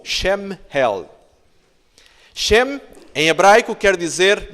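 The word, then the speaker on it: שמואל: quer dizer em hebraico Samuel pronuncia-se Mais ou menos como chame Head chem em hebraico quer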